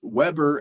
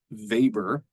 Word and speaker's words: Weber: by my main man Max vber So Max Weber as you might see it but it's pronounced vber discusses bureaucracies as these iron cages that end